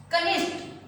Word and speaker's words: कनिष्ठ: कनिष्ठ, हमारी ट की आवाज निकल रही है जैसे, वो कनिष्ठ नहीं होता। आपने ऐसे ही बोला, ऐसे लिख दिया, लेकिन हमारा इसका शुद्ध उच्चारण क्या होता है? कनिष्ठ। यानी पीछे किसकी आवाज आती है? ठ की।